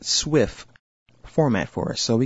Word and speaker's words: SWF: you see here it's already appended the swf pronounced Swift format for us so we can go ahead